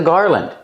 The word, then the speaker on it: garland: This is a garland. Garland, pronunciation. Make the R sound like car and far. Gar. Garland. Not garland. The second syllable is not stressed.